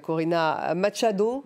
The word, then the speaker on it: Corina Machado: en réaction justement euh parce qu'il n'y a eu une réaction de la prix Nobel de la paix, Corina Machado, c'est comme ça qu'on prononce et Maria Corina Machado Maria Corina Machado